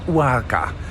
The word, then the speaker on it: Oaxaca: towards Mexico City to a town called Warka. It's spelled with an X inside of it. Sometimes they spell the X with an S or they say it with an S.